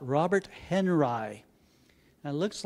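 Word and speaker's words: Henri: an artist named believe it or not Robert Henry it looks like it was you would pronounce his name differently but he was an American Artist and he was pronounced his name Henry the object isn't to make art it's to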